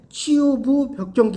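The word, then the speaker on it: 취유부벽정기: 치유 부벽정기. 그러니까 이걸 읽을 때 치유부 벽정기 이렇게 읽으면 안 돼요. 치유 부벽정기. 그렇게 읽어야 돼. 우리가 잘못하면 아버지 가방에 들어가신다 같아. 그렇죠? 예, 치유 부벽정기라고 읽어야 돼.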